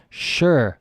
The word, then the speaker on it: shire: end with Shire and the pronunciation is sure like sure yeah okay sure so